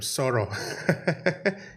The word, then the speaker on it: Sor: for that uh Sor I like that name sorrow is it pronounced correctly absolutely abolutely all right what does